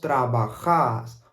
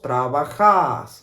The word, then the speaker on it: trabajás: Vos trabajás. Okay, so tú trabajas. Tú trabajas. Vos trabajás. Okay, so the AS at the end, we pronounce it more like a long vowel sound.